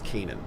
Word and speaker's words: Canaan: Oh, she finally pronounced it as Canaan.